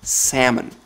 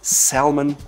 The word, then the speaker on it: salmon: Second word that's quite difficult for foreigners is salmon. There's an L, but it's silent. So it's not Salmon or Salmon, it's simply salmon.